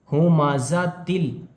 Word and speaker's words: همزة: वजह से वुल कुल हु माजातिल ता लाम दो ज़ेर तिल यहां पर ता को ला में मिलाकर पढ़ रहे हैं क्योंकि लाम के ऊपर तशदीद है हु माजातिल माजाती आगे